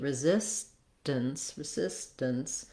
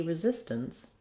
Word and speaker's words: resistance: some other words where we don't really say much of a vowel for this letter A. It's almost basically a syllabic end. So that means I just go right from the T, resistance, into that N sound. And that T, resistance, for some reason in this word we make that somewhat of a flap. Maybe that's because we have a little bit resistance. I'll write that as a D for you.